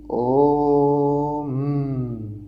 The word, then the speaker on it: ओम: ओम म ऐसे होठ दबा के म नहीं बोले जाते हैं। हमेशा जब आप ओम उच्चारण करते हो ना ओम ऐसे होता है। होता है। जैसे गुंजन जैसे भंवरी जैसे भंवरी होती है ना करती है।